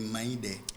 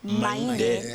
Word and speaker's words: Maïndé: C'est Maïndé. Maïndé, voilà. Maïndé. La prononciation est très importante.